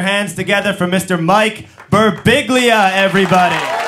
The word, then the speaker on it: Birbiglia: Mike Birbiglia, everybody. How are ya? Nice to see ya. John got my last name right. It's Birbiglia.